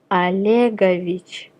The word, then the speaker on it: Olegovich: Please note the pronunciation. Olegovich, Olegovna. Vladimir, Vladimirovich, Vladimirovna.